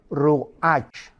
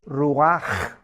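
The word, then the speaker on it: רוח: La palabra hebrea para espíritu es ruach, pero la CH en hebreo se pronuncia como J, es ruach, ruach, como J, y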